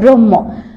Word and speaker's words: ব্রহ্ম: এটা কিন্তু বক্ষ নয়, এটার উচ্চারণ হবে ব্রহ্ম।